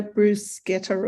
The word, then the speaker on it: bruschetta: to pronounce Bruschetta correctly I think it's got a Bruce getter or something like yeah you have to save the K the CH means well sounds good are